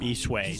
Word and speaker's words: Bishui: Bishui, that's how you say it.